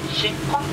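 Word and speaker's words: 膝根: これ、膝の根と書いて、新根と言います。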